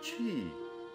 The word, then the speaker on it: qi: comes from this ancient chinese script chi and chi is pronounced as q-i is not queen but which